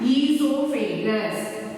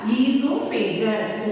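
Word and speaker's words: oesophagus: Next one, esophagus. O is silent and you have to pronounce it as esophagus.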